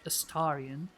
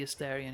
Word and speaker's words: Astarion: I've been enjoying the actor who voices Astarion. I've realized I've been pronouncing the name wrong all this time. But it makes sense given the character that it wouldn't be Astarion, it would be Astarion.